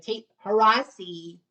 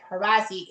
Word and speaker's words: Horassi: But nevertheless, um one of our one of my teammates, if you will, by the name of Tate Horvathy, rhymes with Degrassi. Actually, it's fake because Horvathy, h o r a